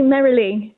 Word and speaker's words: Merrilee: Have I pronounced your name correctly? It's actually Merrilee.